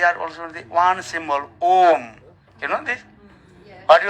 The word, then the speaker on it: Om: Actually, Om means there are 3 syllables are there. O and Akara uchyate Krishna sarva lokaika nayaka ukara prakriti radha makara jiva vachakaha. Sanskrit. Om means Krishna, who is the supreme personality of Godhead.